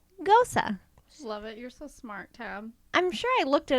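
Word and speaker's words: Gose: okay is German and is pronounced much the same way as the name Rosa with them this is on the O and the e making an O sound so it sounds like Gosa I'm sure I looked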